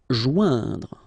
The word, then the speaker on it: joindre: Joindre, okay, remember, O-I-N together, ouin, okay, joindre, joindre.